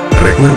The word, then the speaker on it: freekeh: Freekeh (pronounced free-kah) is the result of wheat harvested while young and green.